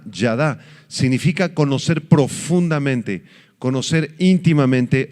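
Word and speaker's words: ידע: palabra saber es la palabra hebrea yada con y a d y a con el acento en la última a yada significa conocer profundamente conocer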